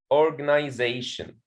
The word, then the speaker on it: organization: for example in a word like organization organization there is a primary stress on the fourth syllable here they say and secondary stress on the first syllable and the other syllables